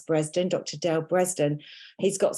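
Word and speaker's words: Bredesen: Dr Dale Breslin and spelled breezed in b-r-e-s b-r-e-s-e-d-e-n but pronounce bresden Dr Dale bresden he's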